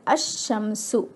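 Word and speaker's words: الشَّمْسُ: While reading, it's a silent letter. For example, if I have al plus shamsun, alif lam al plus shamsun, the word will be read as ash-shamsu, ash-shamsu.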